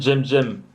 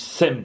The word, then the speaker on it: Cem: Et Jem en fait ça s'écrit CEM. Voilà, ça se dit... Enfin, les gens, tu vois, les gens qui me connaissent pas, tu sais, ils disent Sem, tu vois.